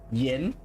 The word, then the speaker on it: Yen: By the way, Yen is uh how we pronounce it in English, Yen with a upward inflection on the south is uh the actual pronunciation of it.